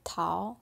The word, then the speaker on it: Tao: And he was like, Tao, which is how you say it in Chinese.